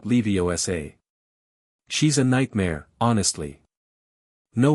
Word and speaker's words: Leviosa: The day's classes proceeded normally until charms where Professor Flitwick paired them up to practice the levitation spell Wingardium Leviosa.